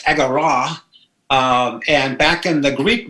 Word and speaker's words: agora: So Agora, Agora, consulting.us, and in about 15 seconds, tell us where the word Agora came from. Oh, so Agora is the Greek word. It's actually pronounced agora.